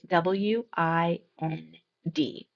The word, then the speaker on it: wind: Our next homograph is w i n d. The first pronunciation is wind.